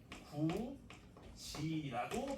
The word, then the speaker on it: 굳이: 된다고 디귿이으로 바뀌어서 넘어갑니다 그래서요 친구는 구 지라고 발음하게 된다 이게 구의 의합니다 그래서 구이라고